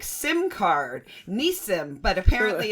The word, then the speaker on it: Nissim: No, it's Nissim. But what what you know I answer I answer to Nissim. Uh you know in the hood people can't really pronounce it. So they call me Nasim. I answer to that you know just whatever comes out of people's mouth I pretty much answer to.